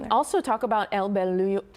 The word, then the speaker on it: Bolillo: Also talk about El Bolillo. I say it wrong all the time. Bolillo. Bolillo Bakery.